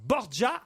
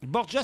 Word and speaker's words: Borja: Borgia, ça s'écrit Borja.